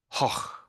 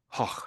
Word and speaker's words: Gogh: So it's more like hoch, hoch. That's it. Yes, hoch. So it's a G, but they pronounce it as like that, more like the way the Spanish pronounce the J, I suppose, if you're any good at Spanish.